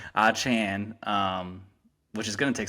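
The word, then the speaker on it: Achane: Chan is how you say his name, not Chain.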